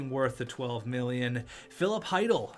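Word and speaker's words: Chytil: the 12 million phillip heidel not sheedle it's philip heidel the c is silent it's the weirdest name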